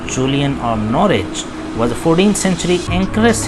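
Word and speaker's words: Norwich: Okay जी, ऐसे पढ़ लें, W साइलेंट कर सकते हैं, आहिस्ता आहिस्ता प्रोनाउंसिएशन का भी lead. Julian of नॉरिच, right pronunciation, तो ये मोस्ट करेक्ट प्रोनाउंसिएशन नॉरिच।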